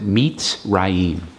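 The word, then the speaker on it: מצרים: okay that's how you spell it but you pronounce it meets Rahim so just a double check I checked with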